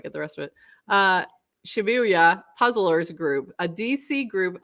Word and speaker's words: Shibuya: How do you pronounce that? Shibuya? Shibuya? Shibuya puzzlers. Yeah. Shibuya.